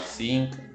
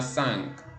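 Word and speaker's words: cinq: hacer de otra manera podría sonar zinc O podría sonar no sé quién porque suena sank porque tiene una n antes de la vocal después de la vocal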